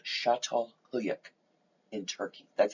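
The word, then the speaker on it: Çatalhöyük: first city that we know about today called chateau huyak in turkey that's how you pronounce it it's from it's written down there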